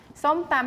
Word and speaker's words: som tam: Som tam.